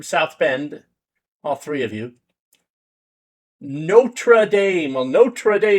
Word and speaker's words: Notre: I don't know why people pronounce it noter. It's n o t r e, not n o t e r, unless I'm sorely mistaken here.